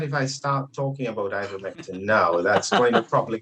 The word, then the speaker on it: ivermectin: Did I pronounce that correctly? Yes. Well, I think that if I start talking about ivermectin now, that's going to probably go down a different route.